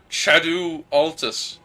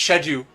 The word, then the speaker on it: Altus: just jumped into Shad shadu Altus that's how you say it by the way Franco I just I just guess knowing you I just guess that you have bad pronunciation it's shadu mhm so just just so you know it's shedu uh Altus